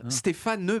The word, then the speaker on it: Stéphane: Si je mets Stéphane Bern dans un alexandrin, en tout cas, si je suis psychorigide au niveau de l'alexandrin, je suis obligé de prononcer le E de Stéphane et donc de dire Stéphane Bern.